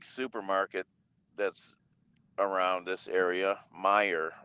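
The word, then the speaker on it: Meijer: that's around this area meyer it's pronounced m-e-i-j-e-r big stores stores are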